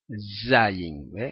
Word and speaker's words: zayin: es la eh acá esta letra Z Z Okay que es equivale a la Z en español zayin fíjense Cómo se escribe